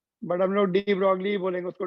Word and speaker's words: de Broglie: French physicist de Broglie, pronounced as de Broglie, ये वाई है, जी silent है, बट हम लोग डी ब्रॉगली बोलेंगे उसको, डी ब्रॉय बोलने से तुम लोगों